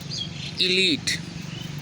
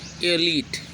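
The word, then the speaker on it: elite: अगला है इलीट। इलीट लिखते हैं, ई लाइट लिखते हैं, बल्कि पढ़ते उसको क्या है? एलीट।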